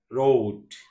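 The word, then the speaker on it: road: আবার যদি ও এর মত কে উচ্চার করে রোড রোড তার মানে কি উচ্চারণটা আরো স্ট্যান্ডার্ড শুনতে আরো কি সুন্দর শোনা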